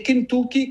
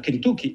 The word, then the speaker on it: Kentucky: E Kentucky, che si pronuncia Kentucky e non Kentucky, come la maggior parte delle persone che hanno gli Stati Uniti sempre in testa tendono a pensare, il Kentucky, detto in